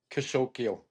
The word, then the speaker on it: Kasokeo: Kasokeo. Kasokeo. Just the way it's Okay. spelled. Yeah, just the way it's spelled. K-A-S-O-K-E-O, Kasokeo. Okay.